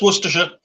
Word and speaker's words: Worcestershire: Worcestershire. There you go, Chad. That's easier than how we say it. I had like 14 syllables in there. No, just Worcestershire. It's so relaxed and just like flows out.